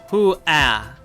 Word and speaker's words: Hua: Hoo-ah.